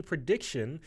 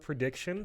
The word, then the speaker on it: Preediction: So anytime you want to listen to us, just look up Prediction, spelled, it's 2 E's actually, spelled like the normal word otherwise.